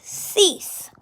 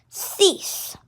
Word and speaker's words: six: q and six is cease so um same as the english numbers in french six is s i x but it's pronounced differently it's pronounced cease so six is cease